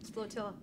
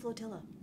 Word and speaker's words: flotilla: if you would yes sir attention praxis flotia splatilla what it's pronounced flotilla who cares attention praxis flotilla this is the uss li your star command